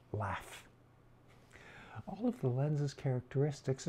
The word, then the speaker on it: LAPHF: That's likely to be changed as soon as they realize the acronym would be pronounced LAF.